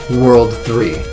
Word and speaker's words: WWW: Despite being spelled as 3 W's, it's supposed to be pronounced World 3, and I can't tell you why that's the name they chose to go with.